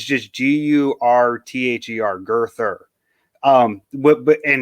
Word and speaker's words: Girther: you might like um every name in the book is pronounced just the way you see it like there's no complications genetically it's all phonetic so there's a guy named girther it's just g-u-r-t-h-e-r girther